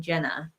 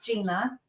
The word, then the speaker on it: Gina: say for a while I think JT was saying Jenna yeah it's Gina so and we were